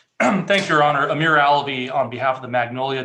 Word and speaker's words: Alavi: Alavi, did I pronounce that correctly? You did. Well, you did. It's Alavi.